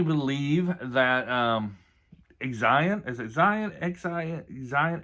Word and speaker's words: Xian: But I definitely believe that Xian, is it Xian? Xian, Xian is how you pronounce it.